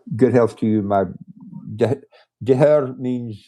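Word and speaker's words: deartháir: Deher means it's like brother, but more than brother, like that close. Yeah. So. It's spelled DARTHAIR.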